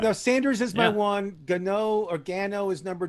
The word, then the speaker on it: Gano: Yeah, and he could pronounce his name many different ways. How do you say his name? Gano.